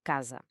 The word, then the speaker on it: casa: A regra de ouro é quando está sozinho entre duas vogais, ele relaxa e ganha o som de s. O exemplo clássico é casa, que soa como casa.